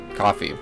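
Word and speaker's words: Ko-fi: Give it to me through Kofi. Coffee. It's pronounced coffee.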